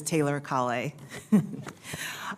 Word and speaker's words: Taylor Kay: thank you chairman Reed actually you correctly pronounced my name it is Taylor Kay um you know as